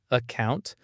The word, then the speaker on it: account: Notice how to becomes t and account starts with a schwa, account, account.